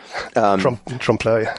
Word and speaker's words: Trompeloeil: So does now my attempt to pronounce this Trompeloeil? Trompeloeil.